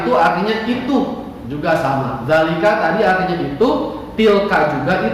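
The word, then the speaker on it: ذلك: Zalika. Dengarkan cara bacanya, zalika.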